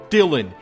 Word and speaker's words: Dylan: I'm your fucking host, Dylan. It rhymes with Rillin.